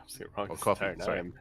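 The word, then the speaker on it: Ko-fi: help fund the tournament is that how it's pronounced coffee coffee yeah coffee it is a coffee cup Kofi makes I like Kofi cuof makes sense yeah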